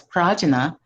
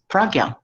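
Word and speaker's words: prajñā: And I Google the internet and find some Westerners, they pronounce it as prajna, but our Nepali brothers and sisters, they pronounce this word as pragya.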